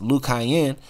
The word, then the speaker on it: Lucayan: going to keep lying we have the lucians pronounced lukayin for the original inhabitants of bahamas before the arrival